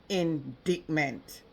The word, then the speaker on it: indictment: In a nation of song and sunshine, this is a devastating indictment. Indictment or indictment? Pronounce the word right. INDICTMENT. Indic.